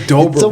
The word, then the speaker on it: Dobra: Look up James Dobra. Rhymes with Cobra. It's Cobra.